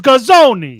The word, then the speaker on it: Gazzone: It's Gazzone. See, in Texas, you pronounce it Guzone because you assume that they're No, you don't.